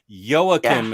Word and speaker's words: Joakim: Oh, here I'm getting another pronunciation lesson. Joakim is how I say it.